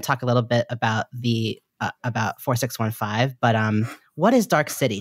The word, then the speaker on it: 4615: And you mentioned your theater company, 46, is it, how do I pronounce 4615? We say 4615.